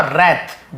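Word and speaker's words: wrath: Raise और रैथ, W silent होता है, रैथ लेकिन लिखते हैं।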